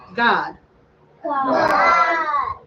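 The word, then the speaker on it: גד: the next one is Gad in Hebrew you say Gad God God and his name means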